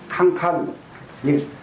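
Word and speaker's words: 看: 그다음에는 뭐냐 간간 간간이 지금도 중국 말에서는이 두 자를 쓰면 봐라이 말이에요 칸칸이이 관자를 칸이라고 발음 하거든요 칸칸 그러면은이 봐라 한번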